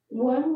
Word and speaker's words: Wun: One worship, one praise is pronounced one worship, one praise to symbolize that we all must be in one spirit to come together in one worship with one praise to our God.